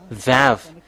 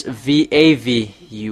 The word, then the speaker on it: Vav: end we see that uh expression this is Vav. It's V A V.